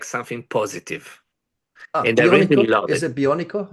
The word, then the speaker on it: bionico: And is it bionico?